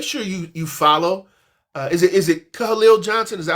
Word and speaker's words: Kahaleel: Is it Kahaleel Johnson? Is that how you Khalil, pronounce? two Khalil. syllables, Khalil.